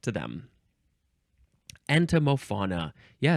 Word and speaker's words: entomofauna: Next is entomofauna? Entomofauna. Let me just make sure I got the pronunciation right.